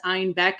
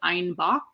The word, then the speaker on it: Einbeck: When Munich started kind of experimenting with other breweries and other recipes, they mispronounced Einbeck as Einbach, which also means billy goat in German.